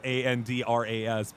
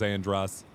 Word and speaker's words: Andras: I don't think it's actually how you pronounce Andras, but I still think of it as Andros.